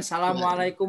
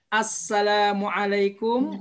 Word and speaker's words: Assalamualaikum: suka seperti ini ya suka dibacanya apa hamzahnya hilang-hilang ya suka dibaca dengan salamualaikum warahmatullahi wabarakatuh reflek MC Ya cek juga imam masjid ya ataupun para pejabat lihat kalau kita salam mendengarnya seperti ini Salamualaikum Salamualaikum Nah itu keliru hamzahnya ada Assalamualaikum warahmatullahi Hai barakatuh ya